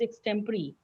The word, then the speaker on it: extempore: is one correction that we don't pronounce extempore, it is extempore.